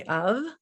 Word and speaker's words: of: Like the word of, if you say of, v, you would think you spell that UV, but of course we know we spell it OF, but that's a really small portion of words.